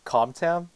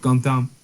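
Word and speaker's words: Cơm tấm: I reckon because like com is supposed to be pronounced as gum, and like gum down is basically just like it's a rice dish.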